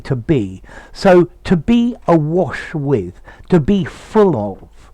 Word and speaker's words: Awash: Oh, and just as a little aside, the Awash is a river in Ethiopia. Notice the difference in pronunciation. Awash, but here to be awash with, starting with a schwa sound.